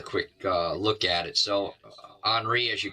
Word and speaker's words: Henri: Man, now we've got Grace, but we also have up in the Atlantic, Henri, I believe is the way Henry is pronounced now, Henri, up around the Bermuda area.